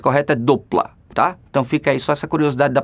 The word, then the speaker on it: Doppler: a gente o brasil chama sempre de efeito doppler mas a pronúncia correta do plata então fica essa curiosidade da pronúncia embora de